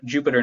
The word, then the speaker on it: Jupyter: called a Jupyter notebook, Jupyter is how it's spelled, but Jupyter notebook.